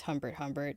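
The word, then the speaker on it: Humbert Humbert: People should know if they're reading the book correctly that you're not supposed to agree with Hbert Hbert.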